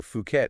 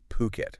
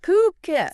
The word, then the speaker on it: Phuket: way mhm for all of you out there fukat is pronounced puket puket not fuk puket got it so ocean worldwide